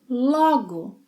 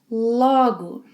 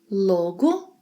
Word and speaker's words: logo: It's logo, logo with an open O sound, logo. If you make a closed O sound, logo, logo, you will be saying a complete different word.